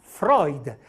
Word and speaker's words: Freud: famoso psicologo Sigmund Freud se scrivo Freud e pronuncia Freud farai come se scrivo l'eutrum Esse pronuncia loitruth